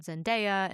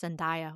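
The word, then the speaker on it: Zendaya: And that's the one with Tom Holland and Jake Gyllenhaal and Zenaia. And I think I've been pronouncing her name wrong. I think it's Zenia, which I am so sorry.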